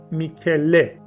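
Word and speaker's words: Mycale: اونم چیزی نیست جز کوه موکاله که توی لفظ انگلیسی و یونانی میکله تلفظ میشه، که این میکله خیلی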